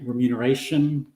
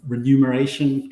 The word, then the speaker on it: remuneration: a space that was in Australia we say remuneration Consulting yep I didn't even know how to pronounce the word I walked out to my first interview and I said I'm here to for the renumeration consultant interview anyway I got that um joined